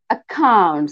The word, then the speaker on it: accounts: Accounts. Yeah, accounts. It's a stress on second syllable, right?